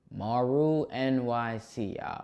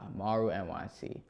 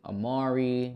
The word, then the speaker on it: MaruNyc: Now, what is the correct way to pronounce your screen name? Maru NYC. Maru NYC. Do people mispronounce this? Uh, sometimes they call me Maru. They call me Amari.